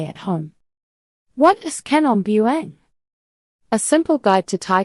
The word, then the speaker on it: Kanom Buang: If you want to say it like a local, try Kanom Buang. Say it with a soft KH and a clear Buang at the end.